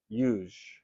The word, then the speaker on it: yuj: And it comes from the root syllable yuj, Y-U-J, which means to yoke.